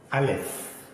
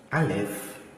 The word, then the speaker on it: Aleph: Aleph is a silent letter.